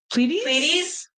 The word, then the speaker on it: Pleiades: And then at the end of that day, we were watching I always pronounce it wrong, Pleides. Somebody pronounce Pleides. Pleiades meteor shower. And it was Pleiades? Isn't that what you called it?